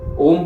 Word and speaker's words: ओम: उद्गीत करते समय हमें ओम के उच्चारण पर ध्यान देना है। हमें ज्ञात है कि ओम, ओ और मौ, ये 2 शब्दों से मिलकर बना है।